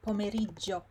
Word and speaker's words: pomeriggio: Some people say pomeriggio, some say pomeriggio. They forgot to pronounce this syllable, ME in the middle. Oh, it doesn't really highlight it properly. So again, you need to pronounce every syllable. Pomeriggio, pomeriggio. And you need to remember that the I here is silent.